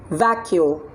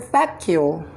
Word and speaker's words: vacuole: have it's that Q it's two syllable the Q everybody vah vah q vacuole okay now what letter